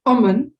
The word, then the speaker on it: umun: For woman, it's umun.